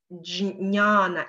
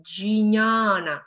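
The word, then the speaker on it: ज्ञान: Мы пытаемся разделить или сказать джя, или пытаемся сказать джня. Часто мы пытаемся вот этот дж звук, его очень сильно выделить. Но, например, как в слове джняна, или мы пытаемся джиняна сказать, но это слово произносится. Няна, няна, няна, ня, ня. Вы, когда при прослушивании, вы можете подумать, что как будто бы теряется это «дж» и произносится только «няна».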